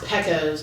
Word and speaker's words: Pecos: yeah i really like pesos in the rooftops and the guy he works for is like um you mean pecos because it's p-e-c-o-s yeah he's like you know what's pronounced pekkos in the rooftops right and so of